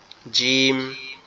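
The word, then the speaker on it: جيم: ভিতরে, তাহলে সেটা হচ্ছে জিম। সেটা হচ্ছে কি জিম। জিম, কাঁচির মতো দেখতে, ভিতরে এক নোক্তা, তার নাম হচ্ছে জিম। আবার এই জিমটা উচ্চারণটা একটু শক্ত আওয়াজ হবে।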